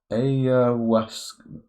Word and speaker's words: ayahuasca: How the hell do you even pronounce it? Ayahuasca. Sure, we can believe Google, that's how you pronounce it.